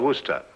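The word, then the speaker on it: Worcester: something else too doc but it's spelled w-o-r-c-e-s-t-e-r sister oh yes i see yes lord wooster mm-hmm his mind be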